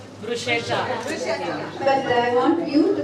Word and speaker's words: bruschetta: Bruschetta. But I want you to pronounce correctly. Bruschetta. The H is silent. Bruschetta is the correct.